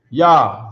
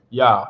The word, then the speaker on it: Yah: And it'll be pronounced like a YAH. Yah, right?